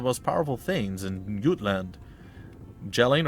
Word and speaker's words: Jelling: powerful things in gutland jelling or yelling as it probably has been pronounced in some fashion it's fine uh has